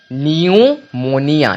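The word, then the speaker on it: pneumonia: से पूर्व पी आए तो पी हमेशा साइलेंट होगा जैसे कि प एन ई य एम ओ एन आई ए न्यूमोनिया न्यूमोनिया तो यहां पर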